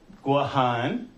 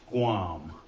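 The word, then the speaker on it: Guåhan: Cuba the Philippines Hawaii gohan notice the pronunciation their guac on that's actually how the indigenous people the Chamorro pronounce it Gohan not Guam go on and then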